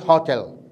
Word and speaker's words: hotel: in a hotel hotel remember not hotel hotel because the stress is in the second syllable hotel who works in a